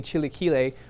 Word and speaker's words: Chilaquiles: This one is pronounced technically Chilaquiles, which is a Mexican casserole.